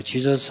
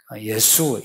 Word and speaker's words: 예수: 또 예수도 영어는 그 지저스 하는데 지저스 그 발음이 틀렸어요. 예수예요. 예수 이 발음이 그래도 히브리 발음에 훨씬 가까워요.